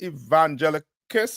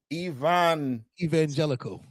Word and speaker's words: evangelical: How they say it? Evangelicus or whatever you call it. Come on, Tabo one, help me out. What do I call it? Evangelical. Yeah, that's it.